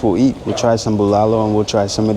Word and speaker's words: bulalo: Then we have beef bulalo, yeah?